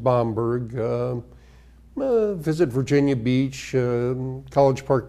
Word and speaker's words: Bamberg: Oh, to go see Bamberg, Germany again. They pronounce it Bamberg.